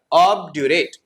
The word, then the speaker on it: obdurate: What is the pronunciation here? Obdurate.